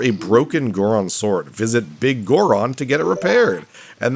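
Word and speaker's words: Biggoron: It's supposed to be Big Goron, as in a very large Goron, but the way it's spelled, it makes me, like, it looks like it's Bigoron.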